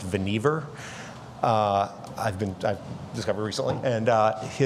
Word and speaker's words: Vannevar: One is his name was actually pronounced Vannevar.